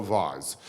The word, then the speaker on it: vase: valuable Ming vase which you might call a Vaz um and it must be worth a gazillion pounds and you say to me where is it I say well I have a photograph of it and you say where is the vase or the vas and I say yeah